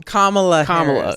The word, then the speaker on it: Kamala Harris: Kamala Harris.